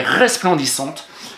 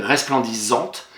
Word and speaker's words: resplendissante: Elle est resplendissante. Eh bien, R-E-S, plan, P-L-E-N, D-I. Attention, je mets deux S, puisque sinon ça fait resplendissante.